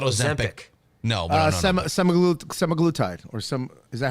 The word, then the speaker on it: Semaglutide: No, but Semaglutide or is that how you say it? Semaglutide.